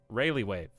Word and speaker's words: Rayleigh wave: the relay wave how do you say this rayleigh wave rayleigh wave yeah that's what i'm thinking of um that